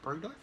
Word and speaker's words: Bergdorf: Bergdorf?